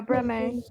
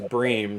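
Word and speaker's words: Bremen: I only know of Breme. Oh, is that how it's pronounced? Yeah, Breme. Oh, okay. I thought it was Bream, so you know. I also thought it was Bream. Pretty sure it's Bream, but it's fine. It's Breme.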